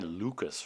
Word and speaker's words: Lucas: are also called Janai Lucas rods Lucas was a famous French mathematician I guess it should be pronounced Luca among other things Lucas